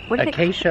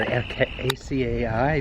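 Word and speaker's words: açaí: whatever they are saying how do you say it acai bowls that's how you said it's a weird word okay so is that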